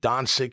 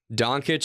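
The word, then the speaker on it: Dončić: I tell you that is it Doncic? How do you say his name? Doncic.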